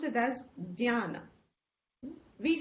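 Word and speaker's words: jñāna: So many times people pronounce it as jnana. We say jnana. In North it's become jnana. This sanyukta akshar has one sound, but there are two syllables.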